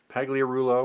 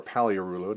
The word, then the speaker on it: Pagliarulo: Mark Brohard, Mike Flanagan, Mariano Duncan, Tim Wallach, Mike Pagliarulo or Paliarulo, depending on how you want to pronounce that.